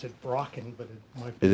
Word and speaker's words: Broken: Well, but you know, pretty good track record in Caleb's new book, The Legend of, I'm going to pronounce it Brocken, but it might be. It is Broken.